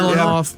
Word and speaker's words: Mihailoff: Mihailoff.